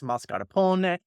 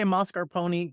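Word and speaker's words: mascarpone: hear it marar Pony you know what the Italians will pronounce e so if we want to be correct it's moscar Pon if you want to say moscar Pony go ahead but if you are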